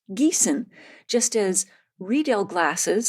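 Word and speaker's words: Riedel: pronounced Geon just as redel glasses spelled r i e D- L are pronounced redel not Bridal anyway I just note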